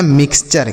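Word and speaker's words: mixture: आगे एम आई एक्स इसे हम पढ़ेंगे मिक्स। क्या पढ़ेंगे? मिक्स। और टी यू आर ई को पढ़ेंगे चर। तो ये लिखा गया मिक्सचर।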